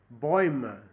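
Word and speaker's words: Bäume: é Boim Boim bo boima parece que os o parece que o e tem um som de a nessa pronúncia eu vou voltar aos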